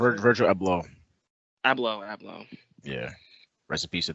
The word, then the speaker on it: Abloh: Is that pronounced it? Virgil Abloh. Abloh.